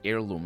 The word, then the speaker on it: heirloom: actually i'm mispronouncing that it's i think it's heirloom you don't say the h in in that uh or is it